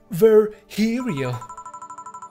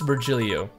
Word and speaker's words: Virgilio: you look winded virgilio it's pronounced ver hero no i'm pretty sure it's virgilio you said as much last time he came pronunciations are a silly thing